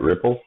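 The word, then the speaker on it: Replit: I've mentioned this before ripple ripple got IT repl and we pronounce that ripple so this is an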